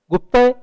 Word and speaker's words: गुप्त: है गुप्त लेकिन क्योंकि स्पेलिंग में जी यू पी टी ए गुप्ता उसको गुप्ता लोग जानते हैं।